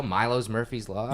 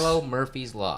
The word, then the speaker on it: Milo Murphy's Law: I always say the name wrong because I'm like, yeah, Milo's. Yeah, I do. Yeah, it's right. A tick, right? So if it's Milo's, then it would be Milo's Murphy's Law. But it's Milo Murphy's Law.